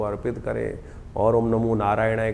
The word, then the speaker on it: नारायणाय: करने का प्रयास करें मंत्र का उच्चारण बिल्कुल सही होना चाहिए कई बार लोग मंत्र का जप करते करते थोड़ी सी गलती कर देते हैं नारायणाय नारायण नारायण नारायणाय नारायण नाराय नहीं है नारायणाय ओम नमो नारायणाय इस